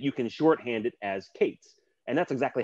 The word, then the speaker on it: K8s: set and that is the eight represents the eight characters between the the k and the s so that you can shorthand it as kate's and that's exactly how